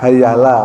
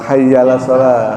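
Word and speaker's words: حي على: bacanya begitu kan gitu Jadi a-nya enggak ada hamzahnya tadi ya, enggak enggak kebaca. Oh, hayalah salat. Hayyaa jadi hayalah. Oh, hayya alah.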